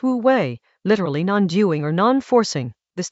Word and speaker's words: wú wéi: In Chinese, wu wei, pronounced wu wei, literally non-doing or non-forcing.